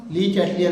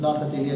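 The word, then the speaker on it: Le Chatelier: ली चैटलियर कहते हैं English में उसको, लास अतेलिया नहीं कहते, हिंदी में लास अतेलिया लिखा होता है, ठीक है। But actually it is correct, जो उसका प्रोनाउंसिएशन है ली चैटलियर प्रिंसिपल है।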